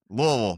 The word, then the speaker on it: Louisville: at we're playing at Louisville or Louisville, how they how do you say Louisville? That's how they say it. Yeah, there it is. Louisville. Wo. Got to say it like that.